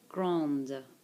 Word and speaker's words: grande: Don't forget your endings. Don't get pronounced here, but they do get pronounced here because of the E.